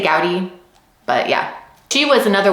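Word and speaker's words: Gowdie: I've heard her last name pronounced Goaty and Gaudy. So, I don't know. I'm just going to say Gaudy, but yeah, she was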